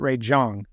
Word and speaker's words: Ray Zhang: But I interviewed a friend, Ray Zhang, but I think he pronounces it Ray Zhang.